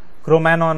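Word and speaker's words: Cro-Magnon: क्रोमैनॉन मैन जी silent है 50,000 years ago।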